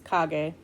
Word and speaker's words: Kage: It looks like cage when you spell it, Kage, but it's Kage.